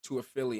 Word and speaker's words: Toafili: We had some good guys, but we got Lawrance Toafili. Am I pronouncing that correctly? Just to make Yes, sure I sir. do. And then Lawrence Toafili. Just so Lawrence everybody knows. Toafili, perfect.